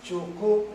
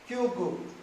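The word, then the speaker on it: Qugu: Here is whatever I am telling you now is Chuku, Rentu is Chuku pronunciation, but you pronounce Chuku. In English is Q-U-G-U. How do you pronounce? Q-U-G-U, Kyugu. In English is Kyugu. In Chinese pronunciation is Chuku.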